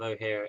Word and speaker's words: O'Hare: Tech Corridor south of O'Hare Airport. I said O'Hare this time, not O'Hare. Pronounce it correctly, boy.